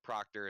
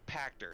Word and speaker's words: Pachter: of that you know I think basically what Proctor is saying is I am i pronouncing that right proctor practice actor Pachter sorry is saying is basically like Netflix I